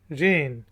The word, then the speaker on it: reign: Light को कहते हैं, रोशनी को कहते हैं, और इसमें देख लें कि जी साइलेंट है। LIGHT light. वर्ड है जी रेन।